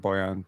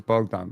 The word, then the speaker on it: Bogdan: the Hawks uh also it wasn't buan bogdanovich it was bogdon bogdanovich that's what I was